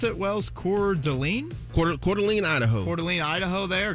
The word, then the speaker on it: Coeur d'Alene: on labor day monday um how do you pronounce it well's core delane coeur d'alene idaho coeur d'alene idaho there great golf that's